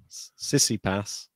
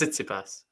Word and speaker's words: Tsitsipas: Sissipas. No, it's not like that. It's Tsitsipas.